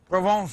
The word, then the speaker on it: Provence: Provence is how you say it.